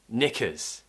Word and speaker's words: knickers: was naf what about knickers knickers knickers are the lower half of ladies underwear so the k is silent just like in knife or knackered which is